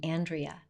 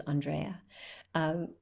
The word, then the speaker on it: Andrea: up in Colorado and a lot of people would pronounce my name Andrea my name is not Andrea my name is Andrea so it's it just